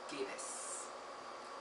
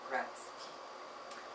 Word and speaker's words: Gatiss: Who, Unquiet by Mark Gatiss. Okay, I have a mispronunciation here. For 2 years, oh, that's a face sign. For 2 years, I have mispronounced Mark Gatiss's name into Mark Gratzky because I am a